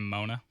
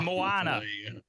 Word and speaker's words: Moana: was coming out and everybody kept saying mona well i mean that does actually kind of make sense because that's how you spell that but no it's the circle has a swirly in it so it's moana there you go the